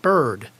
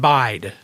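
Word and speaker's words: Byrd: to an I so it would be spelled like bird and then it would be pronounced like bird I did this episode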